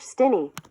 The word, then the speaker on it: Stinney: Steiny I believe I'm just let George pronunciation George Stinny George Stinny.